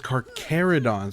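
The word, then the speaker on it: Carcharodon: Car Oh, it's carerodons. I thought it was I didn't know that you didn't uh pronounce the ch.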